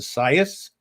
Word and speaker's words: Isaias: national hurricane center that the way they want this name pronounced is science uh which i was